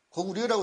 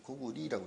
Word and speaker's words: 고구려: 고구려라고 읽으면 안 되죠. 고구리라고 읽어야죠.